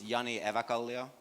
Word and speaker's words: Jani Evakallio: pleasure hey everybody so my name is Yanni Ava Kali oh that's how you pronounce it by the way for